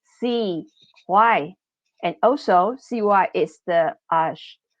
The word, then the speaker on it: CY: And if you pronounce it CY, it sounds like English, CY.